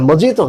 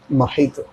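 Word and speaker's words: mojito: इसका correct pronunciation है मोहितो। लिखाएगा मोजीतो, MOGITO, ठीक है। अब ये लैंग्वेज का अपना अपना नजाकत है ना, लेकिन पढ़ेंगे मोहितो, ठीक है। I love the test of मोहितो, मोजीतो नहीं, मोहितो।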